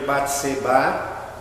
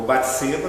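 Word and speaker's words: Bate-Seba: Eu cito o caso, por exemplo, do marido de Batseba, ou Batseba, conforme a tradução, dá uma pronúncia diferente.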